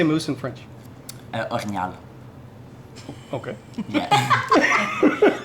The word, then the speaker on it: orignal: Orignal. Okay. Yeah. Orignal.